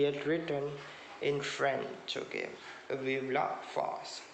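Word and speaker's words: Vive la France: written in french okay vivla fast that is the way it is pronounced in the french language okay fast then he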